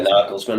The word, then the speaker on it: Nagelsmann: Yeah, Nagelsmann.